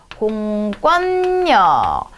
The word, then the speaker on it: 공권력: 공권력. 여기도 니은 때문에 뒤에 니은으로 바뀌어준 비음하고요. 이 권이라고 하는 거는요, 된소리 되는 겁니다.